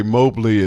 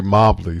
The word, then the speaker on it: Mobley: So Well, it was okay, Jeffrey, because my father and his brother, they they pronounce it both differently. So my, my father would say Mobley, and my uncle would say Mobley.